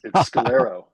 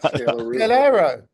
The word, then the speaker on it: Scalero: It's Scalero, not Scalaroo. Scalero.